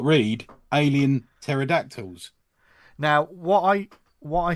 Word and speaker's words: pterodactyl: but yeah because then normally there's a silent P isn't there there's an A in pterodactyl isn't there no but like a p at the beginning of a pterodactyl oh of course I